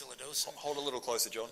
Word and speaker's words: silodosin: I have an enlarged prostate, and what happened is I tried, I think it's pronounced silodosin.